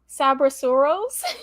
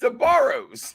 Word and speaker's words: Sbarro: Use all the syllables in the name. Okay. It's Sbarros. It's okay.